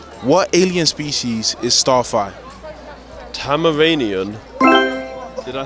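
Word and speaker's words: Tamaranean: heat next question what alien species is Starfire tamaranian did I say it right he actually did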